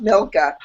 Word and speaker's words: Milka: I used to call her Micah until someone was like, there's an L. And I was like, you know what? In my head, fine. Yes, it's pronounced Milka.